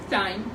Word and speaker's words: thyme: It's kind of like spelled like thyme. Thyme. In our language. Thyme, but it's thyme. Yeah, it's thyme. I just want to stress about it's that. It's like time clock.